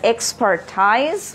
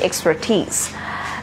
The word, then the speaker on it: expertise: us pronounce it in a wrong way you pronounce it as expertise which is wrong it is going to be expertise the second word that we have is cosmonaut